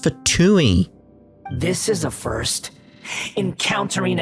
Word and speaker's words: Fatui: in the archon war fatuity no Mei is pronounced for Tui this is a first